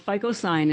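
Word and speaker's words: phycocyanin: the blue pigment is only found it's called FICO sign that's how you spell it P h y c c y a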